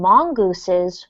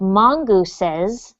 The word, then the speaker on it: mongooses: After all, deadly snakes lived right in their garden, and mongooses were snake killers. So, Rodolfo, when you see a word like mongooses with this last syllable, don't forget to pronounce it.